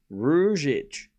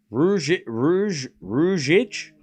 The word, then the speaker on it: Ruzic: Rou Ric. Wait, is that it? Hang on. What? Rouich.